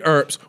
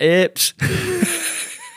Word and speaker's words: Earps: I've been calling it Earps. Bro, she's just lying. Oh, she plays for your club, bro. No, you should know. No, because the word is spelled E-A-R-P-S. Earps.